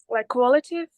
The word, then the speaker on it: qualitative: It's called qualitative. Can you say it? Qualitative. Qualitative. All right. Okay. It's very important that you pronounce it correctly because sometimes you say quantitative and you don't stress the L in qualitative, you might be misunderstood.